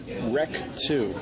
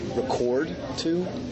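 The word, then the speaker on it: REC 2: to talk about is uh wreck 2 which I think some people might pronounce record to right but it's basically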